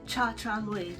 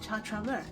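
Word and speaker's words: ChaTraMue: I used to pronounce it Cha Cha Mui because that's how it's phonetically spelled if you say it phonetically in English, but no, apparently you pronounce it Cha Cha Mua.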